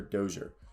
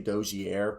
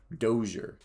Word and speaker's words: Dozier: to say this closure dozier pj pj dozier tell me if i said that correctly i used to say doji air but that was supposedly the french way and his is more